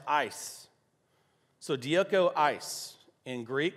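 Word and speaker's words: εἰς: press on toward untoward in greek is spelled e-i-s which is pronounced ice so diego ice in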